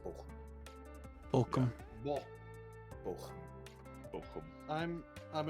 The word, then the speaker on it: Bochum: Also, definitely I- not pronounced Bochum, in case you're wondering. It is pronounced Bochum.